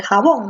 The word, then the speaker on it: jabón: el jabón pásame el jabón no entonces la fuerza de voz está en la última tiempo como la fuerza de moss está en la última sílaba él llama a good